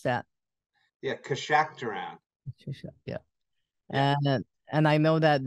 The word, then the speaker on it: Keshakhtaran: And I'm going to have you pronounce that. Yeah, Keshakhtaran.